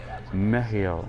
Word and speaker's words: Mehiel: Mehiel. Let me see if the pronunciation is correct, or at least according to this book. Mehiel.